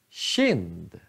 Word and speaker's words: kind: Eller KI, kind, kind.